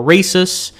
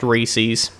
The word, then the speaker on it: Reese's: Now, no matter how you pronounce it, whether it be Reese's or Reese'S, but to get it out of the way, it is pronounced Reese's.